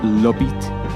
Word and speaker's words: Obitt: The How Uncivilized Podcast was produced, created, and edited by Charlie Le Obitt Feasby, and Spencer, it's pronounced Lobit Lawrence.